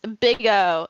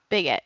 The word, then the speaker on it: Bigot: She might view herself as somebody who is Phil said it's pronounced big O, not bigot.